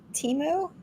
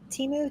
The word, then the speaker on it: Temu: especially that it's how do you say it Teemu temu t-e-m-u yeah that's all kinds of cheap stuff